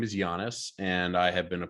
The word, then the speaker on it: Yanes: but uh yeah so my name is ben giannis so like the basketball player that's usually what i